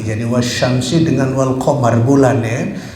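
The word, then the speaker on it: والشمس: Itu enggak jelas dibacanya wasyamsi langsung ke sin, tapi ini wal qamari bulan.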